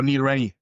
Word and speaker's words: Neil Rennie: Neil Rene? How do you pronounce his name? Oh, Neil Rennie.